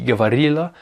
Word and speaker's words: говорило: Alors je dis говорила parce qu'en fait le O n'est pas accentué et dans les règles de prononciation du russe, un O non accentué se prononce comme un A. Mais à l'écrit c'est bien говорило. Ça s'écrit говорило.